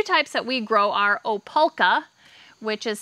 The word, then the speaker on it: Opalka: So the two types that we grow are Opalka, which is spelled O-P-A-L-K-A.